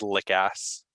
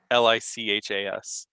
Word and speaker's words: Lichas: In the right realm, this is lick-ass. Spelled like that. Lichas.